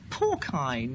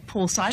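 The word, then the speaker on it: porcine: discussing pigs, careful, and I let slip the word porkine, meaning of pigs, thinking it sounded so beautifully meaty. And instantly, quick as a flash, this not very coarse-grained chairman came down and said, very politely, I think most of us would say poor science. Isn't it poor science?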